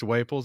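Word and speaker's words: Waples: have uh David wles I'm going to say it's wles it's spelled like Naples Florida except with a W and I added him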